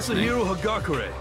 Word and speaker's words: Yasuhiro Hagakure: Yasuhiro Hagakure. I think that's how you say it. I'm Yasuhiro Hagakure.